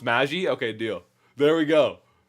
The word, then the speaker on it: Magi: So it's pronounced Magi.